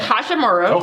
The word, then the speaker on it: Hachimura: How you say his name is Hachimura, for one. And for two, Hachimura is an amazing player. He went to Gonzaga. No. Ain't no such thing as amazing player for Gonzaga. No, Hachimura is an amazing player.